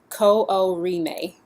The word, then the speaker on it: Kooriime: The title is pronounced Kooriime.